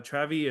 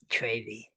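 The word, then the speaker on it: Travie: Uh, Travy is VI, not Vy. Travy.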